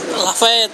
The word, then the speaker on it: Lafayette: Oh, bacanya Lafayette apa Lafayette, San? Lafayette.